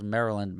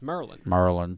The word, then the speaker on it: Maryland: It's Maryland. Maryland. Maryland is 2 syllables.